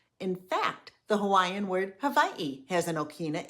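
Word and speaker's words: Hawaiʻi: It indicates a glottal stop of air, similar to when we say uh-oh in English. In fact, the Hawaiian word Hawaii has an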